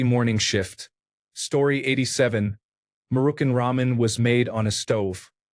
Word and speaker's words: ramen: I first had proper ramen and when I learned that the A is pronounced like a rather than a hard A. My mom still calls them Rayman noodles.